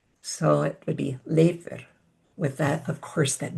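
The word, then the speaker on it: Leifur: So think of the beginning part as L a Y and then actually in Icelandic the F is pronounced like a V. So it would be leer with that of course that beautiful rolling R at the end.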